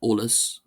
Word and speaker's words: eolas: Uh in most dialects this word olus or olus as I pronounce it is uh pronounced olus. Hence the eo spelling the start olster it gets shortened to olus.